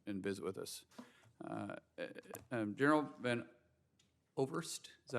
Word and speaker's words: Van Ovost: General Van Ovost, is that how you say it? Van Ovost. Okay, I'm sorry, we don't pronounce that often, from Oklahoma.